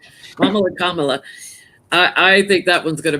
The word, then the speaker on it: Kamala: I have to say Mamala before I can say her name right. Kamala.